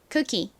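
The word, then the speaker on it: cookie: 여기서 이중모음 O는 긴 우 소리로 쓰이는 경우가 많은데 이 단어에서는 긴 우 소리가 아니라 그냥 짧은 소리로 쓰였어요. 이렇게요. 그래서 쿠키가 아니라 쿠키, 쿠키 이렇게 발음해 주셔야 합니다.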